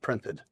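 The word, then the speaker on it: Print3D: a three that yeah it's a play on word so yeah print 3D Technologies but it's pronounced printed printed love it congratulations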